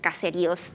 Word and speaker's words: caseríos: So yeah, I just showed you this up here because I think this student in particular really knows that caseríos tiene acento en la I.